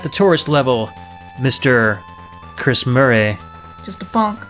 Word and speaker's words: Murray: Chris Murray, Just a punk. which rhymes with furry, and Mr.